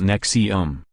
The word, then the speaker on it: NXIVM: fundamental building blocks the tenants of sieve pronounced nexium and its women's empowerment